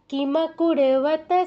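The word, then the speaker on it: কিমকুর্বত: চতুর্থ পাদে দেখুন কোন দীর্ঘস্বর নেই এই জায়গায় কিন্তু দ্রুত বলতে হবে কি কুর্বতা সঞ্জয় বললে হবে না কিতে রস ইকার আছে কুতে রস উকার আছে তা আমরা যদি কিমাকুরতা সঞ্জয় বলি দীর্ঘ ইকার দীর্ঘ উকার চলে এলো হবে না কিভাবে বলতে হবে কিমাকুরতা সঞ্জয় দ্রুত আচ্ছা অরিজিত আনমিউট করো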